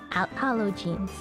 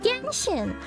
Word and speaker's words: Genshin: hold Shenzhen are called holo jeans." Like, no, they're called Genshin. And in fact, Genshin is a really awkward thing because Genshin is the Japanese pronunciation of the characters, whereas it's a Chinese